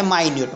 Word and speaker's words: minute: लेकिन यहाँ पे क्या है, माइन्यूट, माइन्यूट मीन्स स्मॉल।